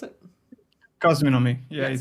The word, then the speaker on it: Cosminomy: So as we said, we're here to talk about, was it Kazunami? Is that how I pronounce it? Cosminomy. Yeah, Yes, it's a mix of cosmic and economy.